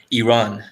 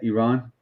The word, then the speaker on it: Iran: i say iran oh is that how americans say iran yeah they say i ran i ran i ran i ran i ran and i run kind of similar so the proper way to say it is iran iran iran iran oh